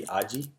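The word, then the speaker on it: 味: I think I said mi. It should be aji.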